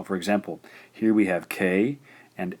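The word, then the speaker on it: か: So for example, here we have K and A. This gives us ka.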